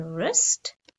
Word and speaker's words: wrist: or the silent t the silent or w as in wrist and the silent h